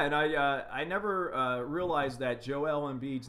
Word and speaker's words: Joel: I never realized that JoEllen beads name was spelled just like mine Joel but he pronounces Joelle and I forget where